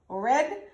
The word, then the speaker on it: read: So, read au présent, read au passé. Si vous ka connaît, vous ka songe, pour ka songe qui genre pour prononcer ça, l'on parle de reading au passé, vous capable penser de couleur rouge là, red qui c'est couleur rouge.